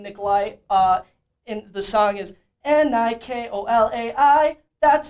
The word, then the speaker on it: Nikolai: You pronounce my name Nikolai. And the song is N-I-K-O-L-A-I.